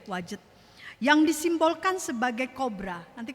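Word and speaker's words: Wadjet: bernama ada yang disebut ilah wajet ya bacanya begitu ya wajet yang disimbolkan sebagai kobra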